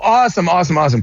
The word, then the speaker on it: Awsten: Oh, awesome. Yeah. Wait, but it's pronounced Awesome.